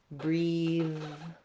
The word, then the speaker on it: breathe: of the time, but similar words like breathe or teeth, when they have the voiced sound, they're going to be spelled with an E, versus teeth and tooth have the voiceless sound. There's no E after that TH.